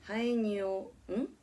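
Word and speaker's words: haenyeo: Called haenyo, haenyeyo, pronounced Haenyo, which means sea woman.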